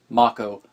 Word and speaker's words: Mako: japanese pronunciation of it mako it is just like the name of the great and powerful mako of samurai jack and last airbender fame